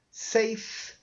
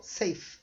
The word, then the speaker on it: safe: Old, clean, new, full, safe. Isso, lembra? E não é pronunciado no final da palavra, então ficou safe, uma só.